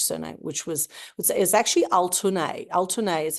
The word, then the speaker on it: Altuney: Altuney is how you pronounce it in Turkish, which is Altuneg, and the G is a silent G.